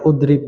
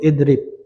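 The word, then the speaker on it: اضرب: Domah ya kayak domah dikira udrib itu bukan itu idrib.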